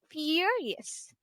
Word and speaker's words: furious: So, please remember the correct pronunciation is furious.